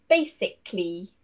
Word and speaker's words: basically: Now, A is not normally pronounced when it comes immediately before LLY, which will most likely be at the end of a word. For example, basically, critically, physically. You cannot hear that A sound in these words.